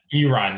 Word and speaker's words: Iran: Iran, you got to say it correctly.